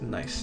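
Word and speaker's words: gneiss: I mean not n it's nice I found out some the day uh that is actually pronounced nice not nice although one thing you've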